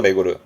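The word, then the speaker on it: 巡る: 메구르.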